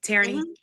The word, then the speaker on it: Tareney: Am I saying it right, Tareney? Tareney.